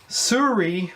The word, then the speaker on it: Sirui: Okay, what we have here is a Sirui, I believe how it's pronounced, tripod, and it is the 3T35K.